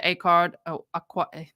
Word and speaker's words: Acard: I was still looking forward to the defense because their potential witness list had Brenda Acard. They wanted to say it almost like awkward. It spelled like A card.